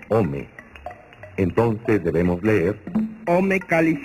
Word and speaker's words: ome: El numeral del año es 2, que se pronuncia Ome.